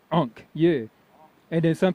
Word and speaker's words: Ankh: It means life, and it's pronounced Ankh.